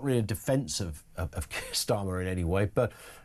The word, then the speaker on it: Keir: really a defence of Keir Starmer in any way, but if his name, Keir, didn't rhyme with tear, would we be, in